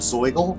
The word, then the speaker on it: Zoigl: Us page says here the word soil zo igl pronounced just like it looks and it's fun to